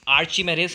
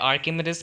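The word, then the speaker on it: Archimedes: इसी तरह अब हम पढ़ेंगे अपना आर्चिमेडिस प्रिंसिपल या फिर आर्किमिडीज प्रिंसिपल। इसके बहुत सारे प्रोनाउंसिएशन हैं, आप इसको, मैं तो इसको आर्चिमेडिस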